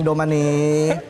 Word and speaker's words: Domani: Benar bacanya ya? Domani. Betul. Domani ya. Domani. Oke. Domani kayak Indonesia juga.